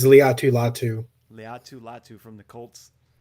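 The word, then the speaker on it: Laiatu Latu: say his name yeah uh they said it's Leu latu Leu latu from the Colts quinan Mitchell Evan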